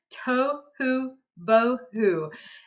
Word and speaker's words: tohu bohu: So orthographically, it's spelled very close to how it sounds. The only difference is to represent the oo sound, we're going to use a U in this case. We know it can be represented in different ways. But other than that, the spelling is Tohu bohu.